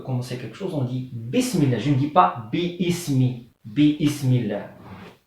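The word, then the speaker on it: بسم الله: Et ça, hamzat al-wasl, on ne la prononce pas quand le mot est précédé par quelque chose d'autre. Par exemple, ism, comme ça. Là, c'est hamzat wasl. Je dis bismillah.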